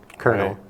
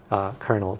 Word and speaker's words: Colonel: and the Latin, but the British said it differently. So there's absolutely no rhyme or reason to why a word that begins with C-O-L is spelled C-O-R, Colonel. Colonel.